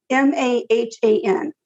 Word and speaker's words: Mahan: makes me sad officer no Sergeant Stephen Mahan m a h an Mahan that's what Mahan okay was determined to